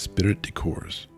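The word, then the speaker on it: esprit de corps: strong practical sense of ispiritic corpse or course cuz the P is silent I believe is spirit decors which in the field developed into the finest thing that arose out of the war comradship.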